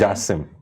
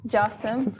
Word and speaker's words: Gacem: I guess it's Jassim. Jassim, okay, because it's with a G and usually Jassim with a...